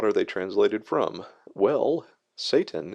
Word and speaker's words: Satan: Well, Satan is a very very old word and uh it's variously transliterated into English with Sauton being an accepted pronunciation.